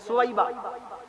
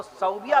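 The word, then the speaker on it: ثويبة: की किताब आपना आप एक नाम पढ़ते हैं सौबिया सदिया अरे भैया सदिया नहीं सुबा अबू लहब की बांदी जिसने प्यारे नबी की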